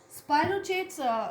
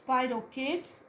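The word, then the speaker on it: spirochetes: Spirochates, some people pronounce it as spirochates and some dictionaries pronounce it as spirochates.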